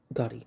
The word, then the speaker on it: Ghoti: today I'm going to go over GOI or Gotti just don't pronounce it like fish that's just wrong it is a single